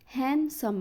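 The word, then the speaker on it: handsome: بنطقه اول كلمه عندي هاندسم اللي هي وسيم هانسم ما بقولش هاندسم لا هانسم هانسم ساندوتش ايوه الكلمه اللي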